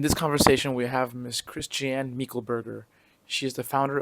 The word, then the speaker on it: Christiane: So, hello Miss uh is your name pronounced Christian?